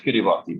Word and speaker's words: Kiribati: Kiribati, it's spelled Kiribati, but it's pronounced Kiribati. Kiribati is in the Central Pacific.